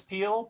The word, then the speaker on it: Pehl: the uh trivia that your last name is pronounced peel which I remember thinking